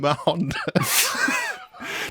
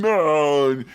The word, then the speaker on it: Mahon: I'd say, they go, Mann, and I'd be like, no, Ma is in mahogany, Han is in Honda Civic.